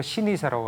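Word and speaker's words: しにせ: 노포는 일본 발음으로 신이사라고 하고 오래될 노자에 가게 포자를 써요.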